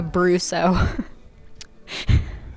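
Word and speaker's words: Brousseau: Uh, Brusso. Okay. You want me to spell it?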